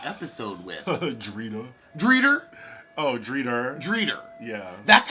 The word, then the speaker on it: Drita: we open the episode with Audrina greeter Oh Drita Drita yeah that's how she pronounces there's I know this